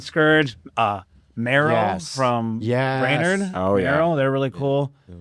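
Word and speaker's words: Mvrow: But I mean I great people and if that's the choice I'd have on it's probably Maro and it's spelled with a V. M V R O W.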